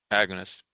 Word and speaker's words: agonists: Someone please pronounce that word for me. Agonists? Agonists.